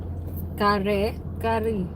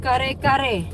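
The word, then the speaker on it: kare-kare: That's in my dialect. Some people call it kare kare, but it's not. I mean, it is, but it's like just a simple type of way to pronounce it.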